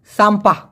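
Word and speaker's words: sampah: এস এম পি হে উচ্চারণটা হবে স আকার ম প আকার হ। সাম্পা মারাত্মক হাতের লেখা আমার হাতের পর একটা বাড়ি দেন।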